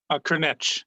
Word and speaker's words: Cârneci: Did I mispronounce that, Sean? Cârneci, yeah.